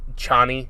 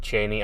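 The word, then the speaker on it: Chani: in the movie um Chie is how they pronounce it in the movie uh the book pronounced it Cheney and I think even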